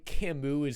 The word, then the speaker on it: Camus: life this is why Camus is objectively the most Chad philosopher of the 20th century he has a gay name if you have silent letters in your name he's French it's not his fault